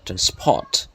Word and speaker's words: transport: speech foreign transport okay transport the first syllable is stressed transport transport free of